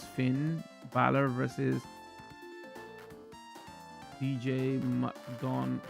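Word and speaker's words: McDonagh: Now it's Finn Balor versus DJ McDon, pronounced McDonough.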